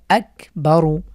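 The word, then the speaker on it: أكبر: আচ্ছা এরপরে আমরা দেখছি আকবারু আকবারু এখানে কাফের আমরা কাফকে পূর্বের হরকতের সাথে মিলিয়ে পড়বো আকবারু এরপরে আসলিম আসলিম আম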